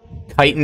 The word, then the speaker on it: chiton: sea slug it's a chitin they're very pretty and yes the bottom does look um well you know Titan is how it's pronounced you wanna have another